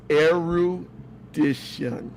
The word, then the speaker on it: erudition: It's erudition. Oh, is it arrow? I thought it was a rendition. Now you can pronounce it erudition.